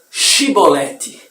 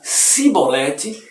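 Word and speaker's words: שִׁבֹּלֶת: Se respondesse que não, os homens de Gileade diziam: então diga Shibolete. Se dizia Sibolete, não podendo pronunciar corretamente a palavra, eles o agarravam e o matavam nos vales do Jordão.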